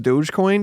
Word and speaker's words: Dogecoin: the dog coin yeah it's pronounced Dogecoin dude get get the meme right my bad